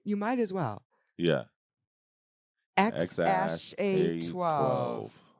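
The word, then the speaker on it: X Æ A-12: X, it's pronounced X-A12.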